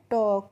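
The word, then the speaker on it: talk: एल के और बच्चों इसको हम पहले तो देखते हैं टॉल्क नहीं पढ़ते हैं।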